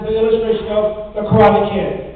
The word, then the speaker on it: karate: Daniel called it karate, but he eventually learned from Mr. Miyagi, it's pronounced karate.